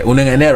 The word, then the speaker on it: Onungene: Okay, Onungene, right? That's the correct pronunciation. That's right.